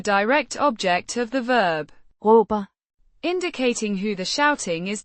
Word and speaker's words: råber: Pronounced Roh-ber. with the pronounced as a guttural characteristic of Danish, and the stress on the first syllable.